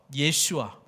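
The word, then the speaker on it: ישוע: 번째가 뭐라고요 유월절입니다 예 여호수아 예슈아 예수님의 히브리식 발음이라고 말씀드렸죠 예수님께서 요단 건너서 약속의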